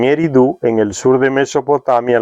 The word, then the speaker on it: Eridu: En Eridu, ahora Zecharia Sitchin le coloca acento en Eridu, en el sur de